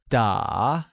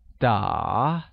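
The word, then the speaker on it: 打: playing is translated as da which is pronounced using a falling rising tone making it da very good thus i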